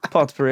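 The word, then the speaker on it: potpourri: Pot pirie. It is pot puri. I was like don't call it poo because that's the thing. The t is silent.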